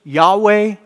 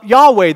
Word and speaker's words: Yahweh: more accurate word about how do you even pronounce this in english you will see y h w h those four letters yahweh you will find it